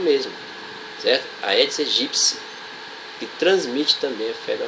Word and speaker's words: Aedes aegypti: Aí os repórteres da televisão vão lá e dizem Aedes aegypti. Na verdade eles não têm culpa, eles não estudaram biologia, eles não foram alunos do professor Allan Calvé. Então a pronúncia correta é Aedes aegypti.